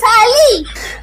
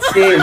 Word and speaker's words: sale: ওই দোকানে লেখা রয়েছে SALE, শালি। ম্যাম, ওটার উচ্চারণ শালি নয়, ওটার উচ্চারণ সেল। দুর্গাপুজোর সেল, চৈত্র সেল, বুঝলেন?